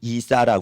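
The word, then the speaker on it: عيسى: 우리가 예수를 믿어봅시다 그들은 이사라 그래요 이사 그니까 아랍어나 이란어 이사는 예수를 이제 아랍 발음으로 이사라 그러는데 그 란에도 예수님이 하나님께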